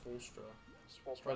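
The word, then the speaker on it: Spoelstra: have a good coach is it sponsor or spellstroke it's spoolstra that's how i've heard it pronounced yeah i think that's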